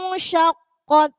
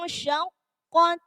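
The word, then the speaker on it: شَقَّتْ: Nah, jangan idza samaa'un syaqqat. Nah, hilang taknya. Jadi harus gini bacanya. Idza samaa'un syaqqat. Nah, harus ada hamesnya. Juga tidak boleh kelebihan sampai begini.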